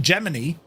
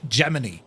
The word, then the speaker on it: Gemini: It became heart of the Gemini, but it's actually within NASA, it's pronounced Gemini.